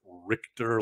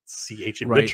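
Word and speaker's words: Ritcher: Jim Richer, though, and a lot of people I remember mispronounced his name. They would call him like Richter, like it would be Richter. It's not. It's you properly said it. Ritch. Richter, not Mike, not like Mike Richter, the old goalie from the Rangers.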